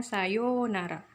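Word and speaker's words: さようなら: Yu-nya panjang, sayonara. Tulisannya sayonara tapi dibacanya sayonara.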